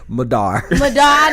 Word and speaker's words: MADAR: Madar, I knew it. MADAR rhymes with radar, making a dream a reality.